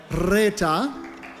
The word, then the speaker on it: Reeta: Reeta, you have to roll your R with me. Reeta is here with us tonight.